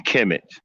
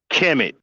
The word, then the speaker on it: Kemet: Kemet is spelled KMT. We don't know what the fuck that is. Y'all just gonna throw a fucking vowel in there, a fucking vowel in there where there was no fucking letter, and just